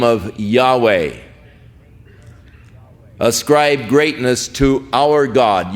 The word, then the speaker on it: Yahweh: Now again, Yahweh is the name of God as far as we can know pronunciations that is as close as man. Some say Jehovah, but uh more generally